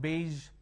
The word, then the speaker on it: beige: is for sure enjoy we don't have any word that starts with a azure sound but we have pleasure measure ted treasure all these word uh where the sound is in the middle and then we have beige where the sound is in